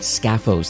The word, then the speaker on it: Skafos: Well, in today's episode, my guest is Michael Pritchard, who's the CEO and founder of a company called Scaphos, and that's spelled S-K-A-F-O-S, Scaphos.ai.